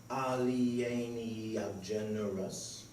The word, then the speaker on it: alieni generis: Alieni generis, Latin meaning of another kind, pronounced alieni generis.